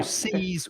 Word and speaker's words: seize: So seize with the Z, there is vibration. It's the vibration. That's what I say. Sound. Like buzz, for example, B-U-Z, double Z. The noise that a bee makes is buzz. To seize.